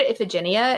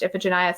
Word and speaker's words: Iphigenia: I think there are multiple ways to pronounce it. I always said Iphigenia in my head, but all of my theater friends say that in theater circles it's pronounced Iphigenia, so I was like,